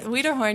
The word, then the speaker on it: Weaderhorn: But her daughter, Allie Weaderhorn. Did I pronounce that right? Weaderhorn, yes.